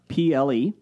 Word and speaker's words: throuple: Throppel was spelled Throuple. So it rhymes with couple.